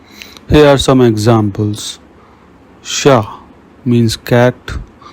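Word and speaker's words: chat: Rules rule number one CH is pronounced like sh in the English word she here are some examples sha means Cat shows means thing machine means machine let's practice read the examples sha shows machine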